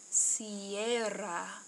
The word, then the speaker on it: sierra: I hope that you tried to roll your R. This word is pronounced sierra.